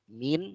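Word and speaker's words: مِن: Huruf min, ini bacanya min bukan man, walaupun sama-sama tulisannya mim dan nun ya. Tapi ini bacanya min. Min dari, dan huruf ila.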